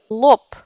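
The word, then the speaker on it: лоб: C'est pour ça qu'on prononce P par exemple Lope.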